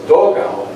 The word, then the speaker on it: dogao: Thus, dogao, D-O-G-A-O, is the best approximation of dugout, because the spelling D-U-G-O-U-T in Spanish would be pronounced something like dugo, except that final T's are rare, dugo.